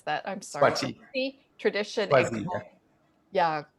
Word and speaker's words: Swati: He is also Sangoma in the Zawi, you're going to have to pronounce that. I'm sorry. Swati.